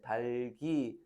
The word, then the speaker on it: 닭이: 넋을, 짧아, 값세, 달기, 삶을, 읊어. 얘가 제일 많이 나오지. 경상도에서 달기라고 발음하는 사람이 잘 없거든. 닭이 이래 발음하지.